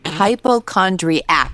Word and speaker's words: hypochondriac: They don't even pronounce it right. Hypochondriac. There's no T.